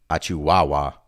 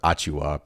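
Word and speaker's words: Achiuwa: I was pronouncing Achiwawa instead of Achua, Precious Achua.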